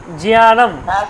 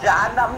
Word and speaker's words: জ্ঞানম: জিয়ানম, জানাম, হ্যাঁ জিয়ানম, জানম নয় কিন্তু জিয়ানম, জানাম, হলো, জানাম।